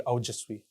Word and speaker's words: Aojasvi: So actually, the pronunciation comes out to be Aujasvi.